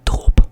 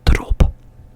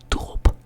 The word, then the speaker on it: drop: Drop, I would say drop, but there are also people that would go like drop. So they have a frontal like R, drop, but I use a guttural R, so drop.